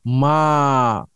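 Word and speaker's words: ما: তো কিভাবে দিবেন সেটা আমরা দেখব, তার আগে আমরা একটা নতুন শব্দ শিখব, কোয়েশ্চন ওয়ার্ড মা। মুখ দিয়ে আপনারা লম্বা করে উচ্চারণ করবেন, মা মা হাদা।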